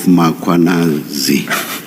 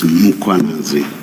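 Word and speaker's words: Mkhwanazi: You repeatedly talk of Makwanazi. There is no A right at the beginning of that first syllable. The A is after the H, so it's Mkwanazi, not Makwanazi. I have to apologize.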